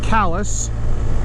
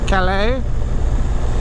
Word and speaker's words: Calais: go East through the town of Calis or as the locals say Calais and then into Nova